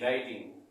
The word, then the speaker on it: WRITING: तो आपने देखा कि राइटिंग में भी W साइलेंट था हमारा।